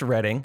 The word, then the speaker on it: Redding: not all right bye so it's pronounced reading i learned that r-e-a-d